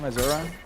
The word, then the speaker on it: Azura: Azura, okay. I said that right the second time, Azura.